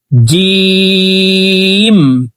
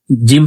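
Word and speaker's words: ج: আলিফ আলিফ আলিফ বা তা আপনারা আমার সঙ্গে বলুন তাছা জিম জিম হরফকে জিহ্বার মধ্যখান থেকে উচ্চারণ করব।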